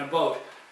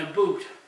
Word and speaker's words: about: the exact same point that Canadians say oat and a boat not oot and a boot I've been fighting this